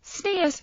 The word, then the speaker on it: tzniut: The term tzniut, Ashkenazi pronunciation, tzniut, modesty, or privacy, is